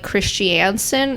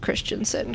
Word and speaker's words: Christensen: t i a nen so it looks like Christiansen if you're like reading it phonetically but like anyone who knows names yeah would know would know that that's not right it was just christansen cuz that's how that